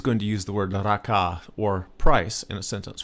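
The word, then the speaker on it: ราคา: It's a two-syllable word. Both syllables are flat tone. That means your normal voice. Raka.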